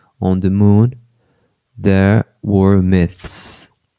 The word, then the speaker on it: myths: the moon, there were myths. Então a linguinha aqui, né, entre os dentes, né? Myth. Aí depois você tem que passar pro S.